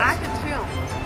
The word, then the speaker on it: Arc de Triomphe: Arc de Triomphe.